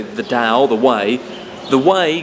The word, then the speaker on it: Dao: You can read the the Dao Ding, the Ta-ing, however you want to say it. I'm pretty sure it's pronounced Dao. That's how it's meant to be. But in English, it's written T AO.